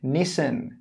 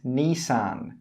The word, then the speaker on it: Nissan: Number 30, Nissan. Nissan. In some accents, particularly American accents, they pronounce Nissan as Nissan.